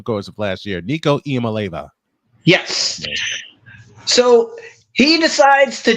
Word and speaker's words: Iamaleava: Nico Iamaleava.